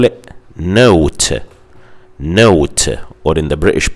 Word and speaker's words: nought: They say 0, just like Americans, and they also call it Nought, or in the British pronunciation they say no.